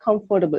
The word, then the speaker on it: comfortable: So even if you take a small word, like I've heard most of my students saying comfortable, but it's not comfortable, it's comfortable, Comfortable. comfortable, right?